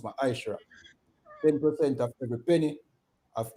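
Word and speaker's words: מעשר: Means 10th in the Hebrew and is pronounced ma'ashra.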